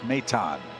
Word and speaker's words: Maton: So Maton is your hitter. Told when Nick was originally signed, his name was pronounced Maton. Now it's Maton.